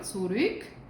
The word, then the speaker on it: zurück: 25 Euro zurück. Danke. Recordemos también la EU, que la pronunciamos como hoy. Y umlaut, los cambios de vocal. U. Aquí solamente nos parece la U. La pronunciamos como U. Zurück.